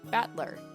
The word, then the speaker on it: Battler: japanese pronunciation so far the problem is my given name that is made of the characters for fight and person and it's pronounced battler put it all together